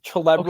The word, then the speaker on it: Celebre: name mispronounced a lot, did I say that right, Celebre? It was pretty close, Celebre. Okay. But it's on the same path.